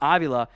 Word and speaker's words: Avila: Tyler Smith and Steve I might have mispronounced your Avila so it's a long a at the front ovula at left guard I'll